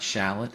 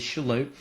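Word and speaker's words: Shallotte: Right here, you see the town of Shalot, and it's not Shallot. It it that name gets butchered all the time, but it is Shalot.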